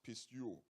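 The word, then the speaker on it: πιστεύω: In the Greek language, the word belief comes from a Greek word pronounced pisteuo, which means to believe.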